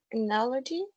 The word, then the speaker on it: analogy: hear me yes um the word is analogy i think he has four syllable and the more stress is the second one yes me too no